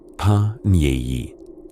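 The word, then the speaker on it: panier: A pany pronounced pi because the French never waste an opportunity to sound sophisticated was a sort of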